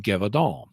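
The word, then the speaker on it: Gévaudan: was attacking people in gadal and accent's on the first syllable so G all and um and it's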